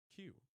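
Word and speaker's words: 九: And the number 9 in Japanese is pronounced Q.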